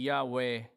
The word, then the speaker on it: 야훼: 히브리어 정확하게는 I am 야훼, 야훼 혹은 저호바, 그 이름 자체를 히브리어 자체 발음하기 쉽지 않기 때문에 I am 야훼 혹은